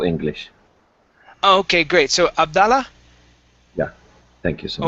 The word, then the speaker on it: Abdullah: So Abdallah? Yeah, thank you so Oh, much. Abdallah. Is it Abdallah? Yeah, it's in Arabic pronounced exactly Abdullah.